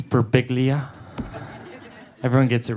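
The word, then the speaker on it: Birbiglia: It's Beriglia.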